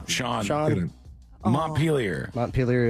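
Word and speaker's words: Montpelier: correct Sean Sean moner Mont peeler is correct I was saying my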